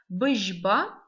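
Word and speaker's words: бжьба: Бжба. Звук ж. Тоже заодно сразу повторим и звуки. Ж. Пишется как ж, мягкий знак.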